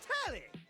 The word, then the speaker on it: Telly: Her name's Telly. Rhymes with Nelly. Like, whoa, Nelly.